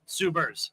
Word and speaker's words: Subers: And make sure I get your last name pronounced right. Suber, right? Subers. Subers. Yes.